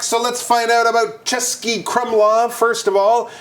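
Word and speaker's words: Český Krumlov: we are back so let's find out about chesky Crum laav first of all it's pronounced chesy Crum laav that's right you might go what are those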